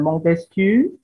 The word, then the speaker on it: Montesquieu: Tapi kalau Prancis ya dilafalkan Prancis. Tadi ada René Descartes. Ada René Descartes, kemudian ada Montesquieu, kemudian ada Condorcet.